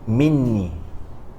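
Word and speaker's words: مني: discussed why the lafaz or the way we pronounce from me, right, or it's been written, is in a way of minni, right?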